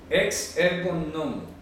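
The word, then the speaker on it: ἐξ ἔργων νόμου: Entonces, sí, ahora dice, en griego dice ex ergon nomu, se pronuncia así, ex ergon, si está con plural, nomu, entonces se pronuncia así, ex ergon nomu.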